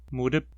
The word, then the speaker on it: 무릎: Palavras com apenas 2 sílabas não possuem uma com altura mais acentuada. 무릎, exceto...